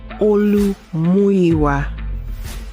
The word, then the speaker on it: Oluwaseun: All right, the Ed Block Courage Award went to Oluwaseun Fashanu. Oluwaseun, which every time we get an opportunity to play this, let's go to Olu's mom. His full name is Oluwaseun Fashanu.